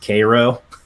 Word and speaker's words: Cairo: a town there called Cairo, which they pronounce it Cairo. Because, you know, we're Americans, and we have to butcher names, right?